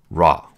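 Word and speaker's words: רַע: just like this okay this is the vowel like an a and this is silent so it's pronounced ra okay r ace r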